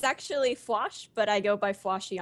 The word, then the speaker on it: Fwosh: It's actually Fwosh, but I go by Fwoshy on Twitter since the Fwosh was taken.